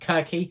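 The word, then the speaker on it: Circe: going into some mythology I've got Kirk I believe it's pronounced I might be Cersei but I believe our Patron said it's pronounced Kirky or kir and so if you've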